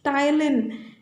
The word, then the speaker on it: ptyalin: Another name for salivary amylase is ptyalin. So P is silent letter there.